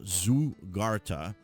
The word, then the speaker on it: zaghrouta: Now, when I looked it up for the pronunciation, it was pronounced Zaghrouta.